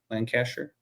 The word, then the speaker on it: Lancaster: It's an order issued by King James I of England for use in land, how do I pronounce that? Lancaster. Lancaster.